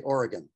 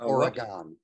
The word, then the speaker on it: Oregon: from uh somewhere in oregon there when we do the next uh uh talk back all right make sure gary while you're there make sure you say oregon not oregon okay all right or